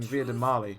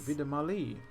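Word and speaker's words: Vie de Marli: I've been pronouncing it wrong this entire time. Saying Vida Marley, but it's apparently Vida Marley.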